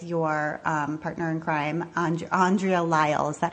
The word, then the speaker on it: Lyle: So you wrote both of them with your partner in crime, Andrea Lyle. Is that how you say her name? Lyle.